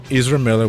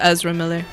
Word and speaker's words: Ezra Miller: which will no I'm just playing it's starring isra Miller which loves him cuz he's in that movie it's pronounced Ezra Miller how did I say it Ezra Ezra my